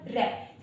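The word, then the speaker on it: wrap: नहीं होता इसको हम ब्रैप पढ़ते हैं। डब्ल्यू का जो प्रोनंसिएशन होता है वो व होता है ना। इसको हम ब्रैप पढ़ते हैं। इसका जो सही प्रोनंसिएशन होगा वो होगा रैप ना कि ब्रैप।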